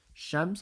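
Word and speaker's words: شمس: I did put a little edit note it's spelled like this it's sheim Sheen mem and scen at the end shems I'm going to vocalize it for you right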